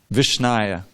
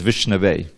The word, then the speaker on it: Vishnu: says is is that the fool he says vishnaya but the alerted man he says vishnu now the general evocative